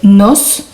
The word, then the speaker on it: nos: Ça va nous donner me gusta leer, te gusta leer, le gusta leer, nos, je prononce bien le S, gusta leer, os gusta leer, les gusta leer.